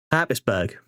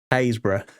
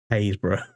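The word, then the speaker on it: Happisburgh: Most people go Habisburg. That's how you pronounce that. Hisburg. No, no, no, no, no. That is pronounced Hbra.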